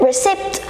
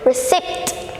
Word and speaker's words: receipt: the receipt for the recipe book here's the recipt for the recipe books so number eight how do you pronounce it it's thus it was sick so